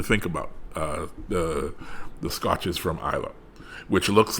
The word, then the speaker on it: Islay: Then you have Islay, which most people who are not Scotch or of Scotch extraction, they say Islay, but it is the word is actually pronounced Islay, and it is it's